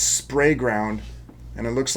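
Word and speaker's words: Sprayground: I'm sorry. I've been saying it wrong the whole time. It's spray ground.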